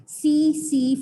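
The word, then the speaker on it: tsetse: दोनों का transmitting agent जो ट्राइपेनोसोमा है ये ट्रांसमिट होता है बाय the bite of सी फ्लाई। यहाँ पर टी होता है साइलेंट, ठीक है, टी फॉर ट्राइपेनोसोमिएसिस एंड टी फॉर सी फ्लाई।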